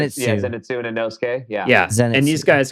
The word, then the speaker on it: Zenitsu: like, "Thank God I can break over to Zenutu. Zen Zenitsu, how do you say it?" Yeah. Zenitsu and Yeah.